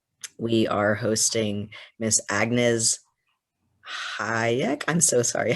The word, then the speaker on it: Hajek: We are hosting Miss Agnes Hyatt. I'm so sorry. How do you say your last name? That's right. Hyatt.